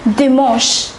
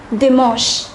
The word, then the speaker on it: dimanche: It is dimanche. The pronunciation is a little different. It is dimanche.